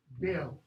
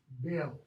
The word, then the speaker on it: Beowulf: Notice that. Beo. You say both, but it's one syllable. Beo. Beo.